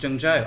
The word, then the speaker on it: Zhengzhou: It's called Zhengzhou Unchained, and you're probably reading it thinking it looks like it should say Zhengzhou or Zhengzhou Unchained, but it's pronounced Zhengzhou actually.